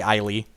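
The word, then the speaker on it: Ayli: I say allele. This is actually Eiley. I know I said allele a few times there. It's Eiley is the correct pronunciation.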